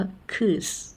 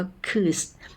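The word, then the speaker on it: kız: อือ คล้าย ๆ ตัว ตัว ไอ นะ คะ ไม่ มี จุด บน หัว นะ คะ คือ สระ อึ นะ ฮะ ยก ตัว อย่าง เช่น คำ ว่า คืส นะ ฮะ เค อื้อ เสะ นะ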